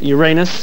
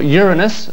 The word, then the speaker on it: Uranus: It's that all of them have had heavenly bodies named after them, except the planet Uranus, or Uranus, as it now seems to be called. When we telephoned the BBC pronunciation unit, they denied there'd ever been a